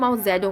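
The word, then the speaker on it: Mao Zedong: এটা মাও সেতুং pronunciation মাও জ্যাডং অ্যাকচুয়ালি।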